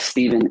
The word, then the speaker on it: Stephen: my dear brother my is Stephen is the correct pronunciation my first name and sharing about this